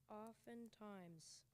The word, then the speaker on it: oftentimes: The word is oftentimes. It's an adverb. It means not seldom, frequently, oftentimes. Oftentimes. O-F-T-E-N-T-I-M-E-S. Oftentimes. And that was the alternate pronunciation, oftentimes.